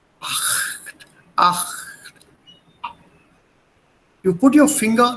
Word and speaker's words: acht: Please listen to the sound very carefully before the word act. It's not act, but before a, the sound builds in your vocal cords, but is not pronounced. Acht, acht.